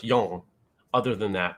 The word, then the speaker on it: yang: pr i'm pronouncing wrong mandarin yang is pronounced young other than that not